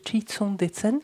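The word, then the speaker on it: ཁྲི་སྲོང་ལྡེ་བཙན: Mais c'est pas Kri, etc. qui est écrit, enfin, qu'il faut prononcer, c'est Chitson Detsen, c'est le premier roi du Tibet.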